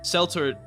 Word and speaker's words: Seltor: Before anyone tries to tell me it's pronounced Keltor, no. Seltor in Keltor, it doesn't even make sense because it's not in reference to the Latin pronunciation, and we don't speak French here. The English pronunciation is Seltor and is only used with a K noise in reference to religious meanings such as the Celtic cross. So it is Seltor, not Keltor.